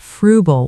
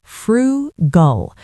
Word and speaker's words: frugal: And finally, let's look at frugal one more time. I want to emphasize the pronunciation. It's 2 syllables, frugal. Stress on the first part.